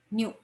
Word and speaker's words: nu: by the symbol new new we did we yes it is denoted by symbol nu it is pronounced as new and it is expressed